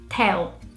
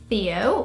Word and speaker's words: Theo: And Brazilians pronounce this name Théo. And that's very different. If you're British, you probably say Theo with the TH sound. But no, in Brazil, you would not get Theo, you would get Théo.